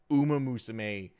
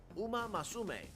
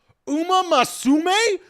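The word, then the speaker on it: Uma Musume: The way Jeff Keley pronounces Uma Musame is hysterical to me. He adds an extra A.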